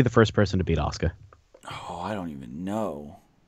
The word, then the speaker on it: Asuka: Global Wars, it's fucking Asuka, not Oska.